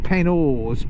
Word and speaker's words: Penhors: It's spelt Penhors, but it's pronounced Penhors. It is.